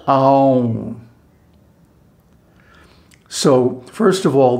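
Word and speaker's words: ॐ: is āūṁkāra, the letter āūṁ. So, first of all, the correct pronunciation, āūṁ, and then the correct meter, mātrā. Āūṁ, and then half a beat of silence. So 3.5 mātrās.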